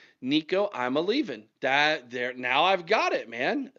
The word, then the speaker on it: Iamaleava: All I needed to do was understand that he was a leaving. Nico Iamaleava.